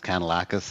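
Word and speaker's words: Kanellakos: Yeah, the pronunciation of my name, that's not the first time, it's Kanelakos.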